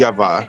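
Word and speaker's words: Ежова: Ludmila It would Ezhova. just be lovely to see them hold themselves together. They're aware of the And I've heard Russian They're pronounce it building up for Beijing in every Yeshava.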